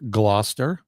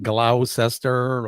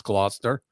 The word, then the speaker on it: Gloucester: um Matt uh Gloucester is not and that's pronounced Gloucester it's not glow sester or any other version It's Gloucester um it's not very far from my house